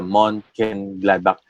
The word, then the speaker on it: Mönchengladbach: The Frankfurt versus the Mönchengladbach. Tama ba Mm. pronunciation ko dun? Ah, Okay, alright. So, 3-1 Frankfurt yung and final score nun. Mönchengladbach, tama.